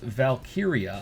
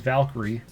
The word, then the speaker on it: Valkyria: the new day Lyra valkyria I thought it was Valkyrie and then you read it like oh yeah valkyria okay when he's when